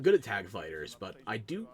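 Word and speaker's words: FighterZ: Dragon Ball Fighter Z, or it is literally just fighters, but the Z is silent.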